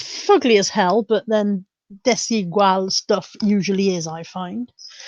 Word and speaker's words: Desigual: This is desigual. I know it's not desidual because I used to pronounce it desidual and somebody corrected me.